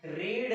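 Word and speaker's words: read: Verb का क्या करना है, थर्ड फॉर्म में लिखना है, रीड, रेड, रेड। स्पेलिंग में नो चेंजेस, सिर्फ उसका प्रोनाउंसिएशन जो होता है उसमें चेंजेस रहता है।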